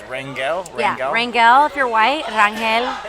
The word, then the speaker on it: Rangel: of that I think how would you say my last one Rangel okay I say it like that too I've come to your